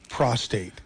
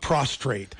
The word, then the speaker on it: prostate: that tickles me is people who don't know how to say the word prostate it comes out prostrate do people do people